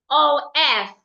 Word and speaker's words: of: So for example, if I have the word OF, the F here makes the V sound, of.